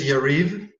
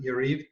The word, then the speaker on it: Yariv: all my name is yariv it's pronounced with the long e uh yariv and it's originally from